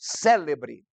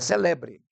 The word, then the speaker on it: célebre: ela não tem acento algumas palavras por exemplo célebre não é celebre não é celebre célebre essa tem acento então algumas palavras tem